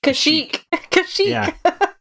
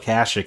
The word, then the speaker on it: Kashyyyk: call it kashic i thought it was pronounced kashyyyk well it's funny it's funny because if you play kotor half the npc's called kashic and half them called kashyyyk they don't know